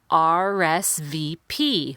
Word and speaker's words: RSVP: I R I P RSVP that one is equal on every syllable RSVP but the connection is